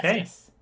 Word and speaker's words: Hephaestus: I'm gonna pronounce this wrong. Hephaestus. Uh, Okay. Hephaestus.